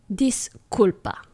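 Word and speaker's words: disculpa: I saying it right this culpa focus on the C this culpa que hora es all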